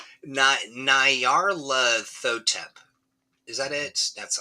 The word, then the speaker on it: Nyarlathotep: mean, yeah, it's pronounced Nyarlathotep. Nyarlathotep.